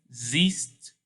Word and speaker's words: siehst: For do and as you can see, it's another one of those IE rules. So you have to say the E, you have to pronounce the E out when saying the word.